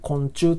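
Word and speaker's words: 魂柱: 昆虫っていうのは魂の柱と書いて、昆虫と読みます。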